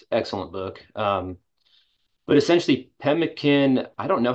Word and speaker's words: pemmican: Tell me more about, I don't even know how to say this, pemmican?